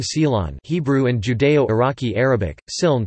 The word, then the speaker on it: סילאן: It is used in Israel, under the name silan, Hebrew and Judeo-Iraqi Arabic, siln pronounced silan, as a dip for bread, in pastries, as